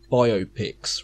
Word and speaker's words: biopic: Well, so what annoys me when they say biopics rather than biopics. Oh, yeah, I know. No, it definitely is biopic, like biographical picture. What? Yeah, but no, it's biopic.